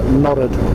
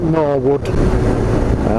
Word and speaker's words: Norwood: here is called nodded it's not Norwood is pronounced and nodded seems to be a human reality of an eclipse is in in Yorkshire that there received pronunciation there's no resemblance to the to the spelling so I mentioned it